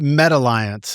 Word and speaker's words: METAlliance: Now um you mentioned you brought up Meta Alliance and how you pronounce it MetaTiance. It's sort of like there's one a one a in the middle, right?